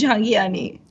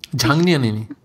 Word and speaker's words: Jhangiani: And it's Jhangiani. Jhangniani.